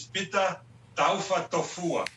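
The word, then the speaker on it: Taufatofua: The proper pronunciation is PETA Taafa Tofua.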